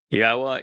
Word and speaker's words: Yahweh: Yahweh is the proper pronunciation of the name of our Elohah God,